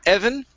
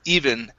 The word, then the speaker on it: even: to the word even instead of uh evan it's even it seemed even more